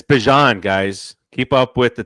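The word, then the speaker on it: Bijan: Bjan from No one had a problem saying Bjon. Bjan from No. So, so they asked him is, you know, how's it pronounced? And he said Bjan.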